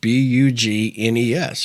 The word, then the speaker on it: bugnes: out of Louisiana, but they call them bugnes. And it's spelled Bugnes, and it's called bugnes.